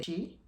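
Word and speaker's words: 四: fact about them is the number four is considered unlucky because four is pronunciation she which mean death so four is associated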